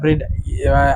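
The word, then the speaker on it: read: I have রিড article, আমি article পড়েছি। রিডের তিনটি ফর্ম কিন্তু একই, বানানে একই হয়। রিড, এটার উচ্চারণ হবে রেড এবং এটার উচ্চারণ আবার রিড, রিড রেড রিড।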